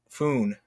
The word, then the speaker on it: Fun: to further keep the whole comic going and everything, I also started doing these entries from this character named Foon, which is spelled as fun.